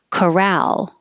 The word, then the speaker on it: corral: are the odds chances corral the stress is on the second syllable chorale it's a fenced in